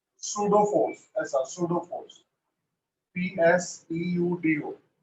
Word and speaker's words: pseudo: force, ऐसा pseudo force, PSEUDO, P silent है, pseudo force और इमेजिनरी फोर्स, तीनों